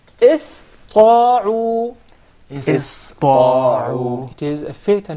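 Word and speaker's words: اسطاعوا: are not educated enough would tend to mispronounce the letter Sin, and instead they would pronounce it as Sad, because it suits more the Ta.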